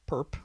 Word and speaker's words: perp: little symbol here uh is written is pronounced per or perpendicular or orthogonal complement the orthogonal complement of